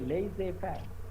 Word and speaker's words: laissez-faire: Okay, laissez-faire. That's how it's supposed to be pronounced. It's a French term.